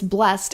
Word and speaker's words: blessed: terms of Modern English it's blessed and that's really a t- sound instead of an ed sound even though it's spelled with the Ed they Ed different versions